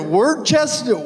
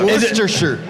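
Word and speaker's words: Worcester: what is it wer wait is it like wer shirt yeah wer so so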